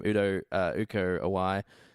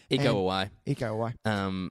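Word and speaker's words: Iko Uwais: Uko Awai. I should get it right because I don't want to say his name wrong.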